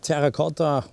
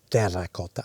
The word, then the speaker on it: terracotta: the typical color of terra cotta i do pronounce it in italian because terra carta or any other pronunciations is probably not the way one should pronounce terracotta softly pronounced no are you